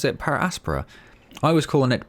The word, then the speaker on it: Per Aspera: i was watching the videos was that people pronounce it para aspara i was calling it parasperra but apparently everyone else i watched immediately called it paraspora so that's what we're gonna call it going